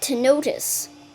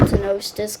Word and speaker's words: Tenostis: actually sea snakes, but Tenotis. The S is silent. See? S is silent. Except if you're a Western continent person, the S is silent. I'll just call it Tenostis because I like the Western continent.